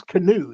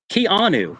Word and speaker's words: Keanu: Canoe. His name's not Canoe. It's Keanu.